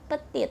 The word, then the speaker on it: petite: tulisannya Elle ptip Hai tulisannya Petite dibacanya pethit Hai huruf terakhir tidak dibaca komong Elle atau komong